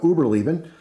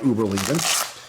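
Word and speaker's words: Überleben: brand called uberlieben uh I may be mispronouncing that it wouldn't be the first time I mispronounced something I'm gonna go with uh Uber leaving and uh they also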